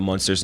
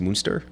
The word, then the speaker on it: Munster: monster cheese great although i think it's supposed to be pronounced moonster i'm not sure yeah it is but i say i say monster too yeah uh i did